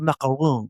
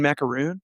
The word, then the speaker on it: macaron: Excuse me, I'd like a macaron. We do have a French woman who bakes in our community, and I made sure to say it correctly to her. But when like Joe Blow, she was like, "Do you mean macaroon?"